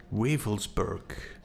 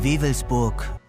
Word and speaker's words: Wewelsburg: So one of these episodes was dealing with Wewelsburg, the occult SS castle of Himmler.